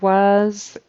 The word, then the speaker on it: was: of thought the word was he said an S instead of a z on the end of that so was was it spelled with an S but we say it with a z was an odd Choice